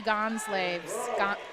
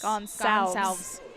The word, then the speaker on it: Gonsalves: Wow, 1491, Gonslaves.